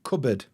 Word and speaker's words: cupboard: cupboard if you look at it like no cupboard all right much easier once I understand the